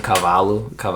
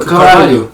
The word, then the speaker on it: Carvalho: Cavallo or whatever his name is? From Betis? No, bro. I always get his name wrong. He plays for Fulham. Oh yeah. Carvalho.